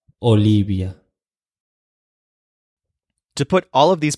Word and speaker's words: Olivia: last letter to learn the letter V in Spanish is pronounced exactly like the letter B so the name Olivia is pronounced Olivia Olivia to put all of